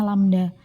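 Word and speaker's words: λ: Ini bacanya lambda.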